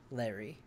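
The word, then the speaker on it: Lery: Larry is typically a man's name, but this is spelled L-E-R-Y. Yeah. Okay. Larry.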